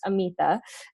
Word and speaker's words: Amita: my first name so my first name is pronounced amoeba and it's really an honor to be here